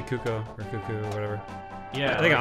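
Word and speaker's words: Cucco: I just say that finding out that is pronounced Coco ruined my life dude why don't I'm in your life cuz that perhaps it Kaku my entire life yeah I still did too let's say cuoco whatever yeah I think I alternate but I'm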